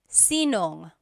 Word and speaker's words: sinong: If you have sino ang in a question, you might hear sinong. So they put it together.